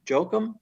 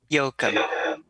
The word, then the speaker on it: Jokum: Sean Bromer and Jokum. Did I pronounce that correctly? Yoakum. Yoakum, thank you.